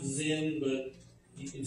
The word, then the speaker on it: Sin: the Wilderness it's pronounced Zin but you can say sin now this is not sin like you and I understand sin but I do find